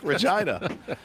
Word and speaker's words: Regina: city that rhymes with fun. Yeah. That's right. Regina.